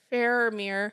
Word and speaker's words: Faramir: But I really like Faramir. I think I said his name wrong again. Yeah, no, I did. I said it right. You got to take away the N. There's no N. Faramir.